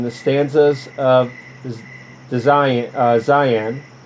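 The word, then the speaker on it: Dzyan: stanzas of this design zion and i'm probably pronouncing that wrong it's spelled d-z-y-a-n d-zion became our hats thus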